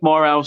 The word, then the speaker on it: Morales: uh so yeah turf morales get on over there well yeah it is three syllables but i say that turf more or else like it's three separate words um but yeah please